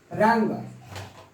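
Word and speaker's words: wrong: टूट, रंग, डब्ल्यू का प्रोनाउंसिएशन नहीं होगा, यह इसका हो जाएगा रंग।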